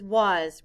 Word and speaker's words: was: s in this word the letter a stands for the short u sound uh and the letter s stands for the sound z blend with me z